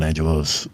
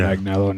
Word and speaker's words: Agnello: Is it John Agnello? That's what this a g n e l l o so we're going to say it's Agnello.